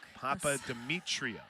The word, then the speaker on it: Papadimitriou: It's spelled like it's sour. It sounds like it's spelled. Papadimitriou. That feels like a cruel joke. Papadimitriou.